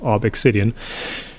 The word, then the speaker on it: ObXidian: It's an uppercase X. Uppercase letters are always pronounced individually, so it is ObXidian.